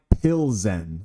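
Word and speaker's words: Plzeň: Keen says it's pronounced Plzen.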